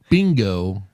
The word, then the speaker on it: Bingo: Yeah, my For the Bingo record- rhymes with dingo.